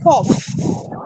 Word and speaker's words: cough: pronounced for instance when you pronounce the word cough you pronounce the word cough you see what giv you the is a